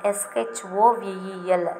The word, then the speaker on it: shovel: S-H-O-V-E-L, shovel. Here we have to pronounce O as A. Okay, va, shovel.